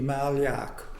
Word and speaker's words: Malyak: My full name is anglicized Malyak. And how would you pronounce it otherwise? Not very much different. In my Slavic background, it would be Malyak.